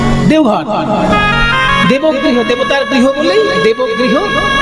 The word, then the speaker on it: দেওঘর: এই হ্যাঁ, দেবঘর, আর সংস্কৃতে বলা হতো দেওঘর, দেবগৃহ। দেবগৃহ, সেখান থেকে বাংলা হিন্দিতে দেবঘর, তারপরে এখন বটা ওতে পরিণত, হিন্দি উচ্চারণে দেওঘর হয়ে গেছে।